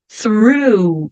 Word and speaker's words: through: o u through Ok então eu ponho a língua trás doos dentes em cima puxo o r enrolada through e depois o som de u through aqui da mesma forma